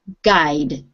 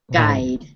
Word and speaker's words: guide: this word again please all right we don't pronounce the you in this word it's just guide guide okay and everybody in the class with your